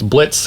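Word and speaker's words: Blitzø: Imp crew it's it's Blitz who's who is the titular hell of a Boss Blitz the O is silent he used to be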